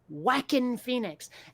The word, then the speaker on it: Joaquin Phoenix: Not Joaquin Phoenix, Joaquin Phoenix.